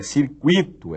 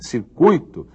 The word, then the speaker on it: circuito: culta muito bem então se você descobrir que não é circuíto é circuito se você descobrir que